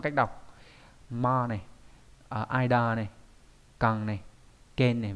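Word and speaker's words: 間: Chữ gian này đọc khá là nhiều cách, ví dụ như là đọc là ma đúng nhỉ?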